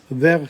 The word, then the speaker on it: vers: Marguerite, allons vers celle, otherwise vers Louis. The S is not pronounced. But in this case, yes, because it's allons vers celle. You can join them. Okay, that's important.